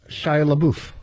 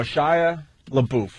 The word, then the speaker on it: Shia LaBeouf: Oh, Shia LaBeouf.